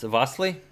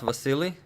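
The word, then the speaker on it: Vasyl: Vasilis name wrong okay so it's uh it's vastly it's not Vasily yeah because no one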